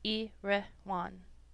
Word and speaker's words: Erewhon: to be understood that iroan is pronounced as a word of three syllables all short thus e rean preface to the second